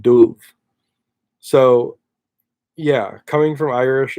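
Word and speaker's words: dubh: sound so if you if you see a BH in Irish and written Irish that is going to make a V sound so like the word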